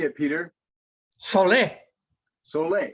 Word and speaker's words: Soleil: Oh, It has an accent on it and it's pronounced How would you say it, Peter? Sole. Soleil.